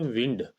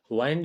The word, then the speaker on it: wind: डब्लू आई एनडी इसको इसका जो प्रोनाउंस होता है ना उच्चारण व होता है विंड वाइंड नहीं होता विंड होता है चलिए आइए रीड करते